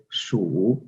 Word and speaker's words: 鼠: So in Chinese language, we pronounce rat as 鼠, S-H-U, 鼠 is the Chinese word for rat.